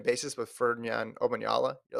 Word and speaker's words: Omanyala: You're on a first name basis with Ferdinand Omanyala. You're like, I'll see what Ferdinand runs. Yeah, it's because I didn't want to say his last name because I didn't know how to say it. So Omanyala.